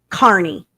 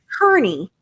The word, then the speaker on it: Kearney: I am not from Massachusetts, but I dadgum sure know it is Aiden Carney, Right. not Kearney. I don't even live there, and I know it's Carney.